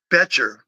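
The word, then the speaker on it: Boettcher: You know, Bryce Butcher Bercher, I think is the way the family pronounces it.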